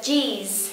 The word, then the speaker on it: cheese: very good từ jeese nhớ là các bạn khi mà nói cái âm này thì chúng ta giống như chúng ta mỉm cười một chút xíu và tận cùng chúng ta có âm Z Ok J the cheese